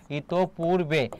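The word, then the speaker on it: ইতঃপূর্বে: দেখো উচ্চারণটা ইতপ। যেহেতু বিসর্গের পরে প রয়েছে তাহলে প হবে দুইবার। ইতপ এখানে থেমেছে কোন কার নেই। এজন্য হস চিহ্ন হবে। বাকি হবে কি? পূর্বে। উচ্চারণের ক্ষেত্রে দীর্ঘইকার বা দীর্ঘকারের ব্যবহার নেই। সেক্ষেত্রে কি হবে? রসকার। রেপ থাকলে কি হয়? র। তাহলে ইত পূর্বে এটা হচ্ছে তোমার উচ্চারণ।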